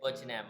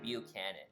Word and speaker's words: Buchanan: there and of course I think I'm pronouncing this correctly this time Buchanan models this time so I think it went out says view Canon models I know I said butcher net models but I think the real pronunciation is Buchanan so nice that I'm